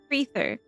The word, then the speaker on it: Freether: Freether rhymes with ether.